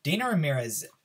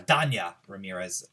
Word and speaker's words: Dania Ramirez: character development for Cinderella Dana Ramirez Dania Ramirez as I believe it is properly pronounced she she did impress